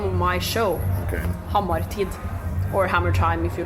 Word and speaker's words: Hammartid: So Hammartid is kind of Hammer Time in Norwegian. So how do you say it again? Hammartid.